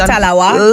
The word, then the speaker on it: tallawah: Did I say it right? Definitely. Little but we tallawah. That is it. So, explain to us what that means, first of all. Little but we tallawah meaning even though we're